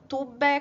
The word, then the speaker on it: tuve: Olha, yo tuve, veja que eu falo tube com som de B, mas se escreve com V. A gente estudou isso na aula retrasada.